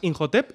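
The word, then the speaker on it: Imhotep: quitársela porque creo que los personajes americanos lo pronuncian más in hotep y cuando lo pronuncia el el que decimos el medy sí que es un con un con un acento un poco más fluido así todos estamos de acuero H suavita una Hache suavita podemos hermanar y no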